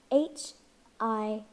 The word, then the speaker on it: HIV: HIV. This is an initialism. Say each letter separately. HIV.